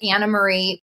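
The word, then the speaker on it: Annemarie: the way is it Anna Marie Wy or anarie Wy what is the correct way to say her name it's spelled an Marie but she says it Anna Marie because she's Dutch okay Co that's a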